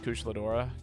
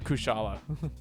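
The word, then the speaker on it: Kushala Daora: I'm pretty sure Gen 2 is when they introduced Kushladora. Gotcha. Or Kushala. Not Kushladora.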